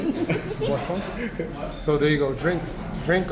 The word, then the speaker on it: boisson: Boisson.